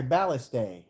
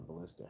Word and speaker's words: ballista: They got my ballast day. How? How'd they get in? No, it's called a ballista. How did it get in? You put the wrong emphasis on the wrong syllable.